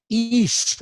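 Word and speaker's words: εἷς: In Greek, heis, I'm using the modern Greek pronunciation as we taught in the Bible college.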